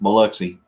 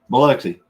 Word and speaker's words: Biloxi: Yeah, so it's pronounced Biloxi. Okay, Biloxi.